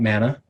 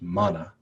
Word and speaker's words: Mana: all have heard about mana which I think actually is properly pronounced mana so let me try it again mana this is a new